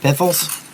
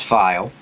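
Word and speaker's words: Pfeil: You can always go out and buy yourself a nice set of piffles. Actually, the name is file. How you pronounce it if you've never heard of them.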